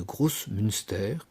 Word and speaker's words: Großmünster: Une des têtes du clergé est le chapitre de Großmünster, comme ça se prononce, chapitre de chanoines, qui va jouer un rôle essentiel dans le basculement protestant de Zurich.